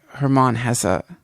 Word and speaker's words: Hermann Hesse: this uh have you ever read siddhartha by hermann hesse i've never called his name that but yes that's how you pronounce it if you if you revisit it